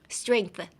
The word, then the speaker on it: strength: Strength. How do I say strength? You could pronounce the G, but you could kind of make it silent.